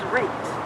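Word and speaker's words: Rietz: I know you pronounced it Reeds. Is it? Yes. Good question. Okay. Yes, this is Reeds.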